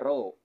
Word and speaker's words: rho: atau centm k kemudian rho ya ini dibacanya rho adalah Massa jenis benda